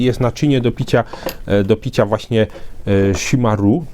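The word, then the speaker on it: chimarrão: naczynie do picia właśnie shimaru, shimarao, shimarą, nie potrafię tego dobrze wymówić. Generalnie jest tam, pisze się himarao przez CH, przy czym podobno to R wymawia się przez takie gardłowe H, takie chrząknięcie i chyba powinno być shimaru, czy shimaro jakoś.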